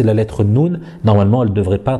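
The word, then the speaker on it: ن: Alors la lettre Noun hein, que je vous ai mis ici, c'est comme le N en français, naninou, donc ce n'est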